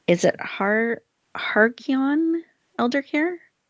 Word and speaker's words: Halcyon: She is the founder of, and I want you to help me with this pronunciation. Is it Halcyon Elder Care? Halcyon Elder Care.